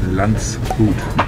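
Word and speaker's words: Landshut: Well, the town is actually called Landschut.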